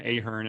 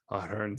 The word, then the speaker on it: Ahern: In America, a lot of people will pronounce it Ahern, and I'm like, no. You got to put the flex on it. You got to put the Irish heritage to it.